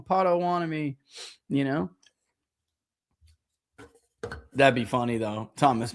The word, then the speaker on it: Potawatomi: Where's my pronunciation guy? Come on, man. Where is it? What is it? There it is. Potawatomi. Potawatomi.